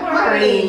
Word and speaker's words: Marni: It's easy to pronounce, Marni. And it's part of my name. Why do you say it? You have to say it kind of nasally. Yeah, Marni.